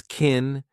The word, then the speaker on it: can: We pronounce it as kin, unstressed, because the main verb is what you hear.